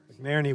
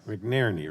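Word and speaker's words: McNerney: i'm sorry all right let me get it right mcnairney right i keep saying it wrong midnight all right thank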